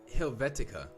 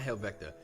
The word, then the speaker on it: Helvetica: then whoops is it am I pronouncing helvetica not helvecta helvetica there we go yeah helvetica